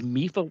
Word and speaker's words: Mifa: things i mean these mifo watch bands it's pronounced mifa right m-i-f-a-a sure let's go with